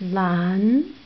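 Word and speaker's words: 兰: bamboo pork it can book LAN it pronounced LAN to learn true so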